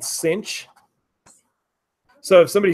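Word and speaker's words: sinh: have a function called sine hyperbolic this is pronounced sine hyperbolic lik sine hyperbolic the shortcut is it's called cinch so if somebody says this they say the st.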